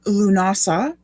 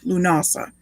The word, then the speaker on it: Lughnasadh: festival of llamas or lunasa as that big long word with all the extra h's and d's that don't seem to belong is that's how you pronounce it lunasa um and that's the